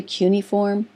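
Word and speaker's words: cuneiform: just write that word down uniform it's actually cuniform that's how you pronounce it I always say CII form so I can spell it correctly but it's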